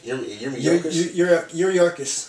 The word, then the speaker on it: Yuriorkis: Yuriorkis.